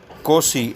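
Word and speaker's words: Nkosi: जो white people जो थे, वाइट अफ्रीकन्स थे, उनका जो है ये नाम दोनों याद रखिएगा, कोसी, एन साइलेंट है, कोसी सिकेलेल अफ्रीका, एंड ब्लैक जो लोग हैं वो die stem, the old anthem of the Republican.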